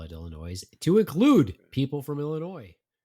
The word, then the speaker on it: Illinois: is it Illinois or Illinois? It depends where you're from.